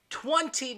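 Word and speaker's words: twenty: If you're angry, you will pronounce the second T in 20. 20 minutes ago, I told you to get ready for school, right?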